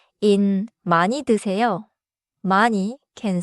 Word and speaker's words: 많이: Pronounciation point in 많이 드세요.